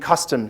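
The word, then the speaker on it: kastom: what I learned as custom now that's not a misspelling k a s t o m not like country kitchen but that's really how you spell it and custom is more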